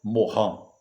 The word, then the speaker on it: Morin: que é Edgar Amorim bem escrito Morin para a gente ler escrito a gente identificar que Amorim agora o cidadão é francês então porém pronunciar correta seria morrão então se você quiser